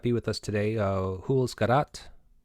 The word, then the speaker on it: Garat: with us today, Jules Garat. Did I pronounce that correct? Jules, Jules. You pronounce it Jules. Okay. Garat is Chilean, and you both met in correct, Chile.